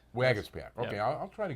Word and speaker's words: Waguespack: Did I pronounce that right? Waguespack. Waguespack.